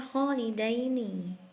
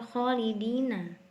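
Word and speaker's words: خَالِدَيْنِ: Biasanya kita menemukan katanya kholidina, tapi di ayat ini bacanya kholidaini, ya, bukan kholidina.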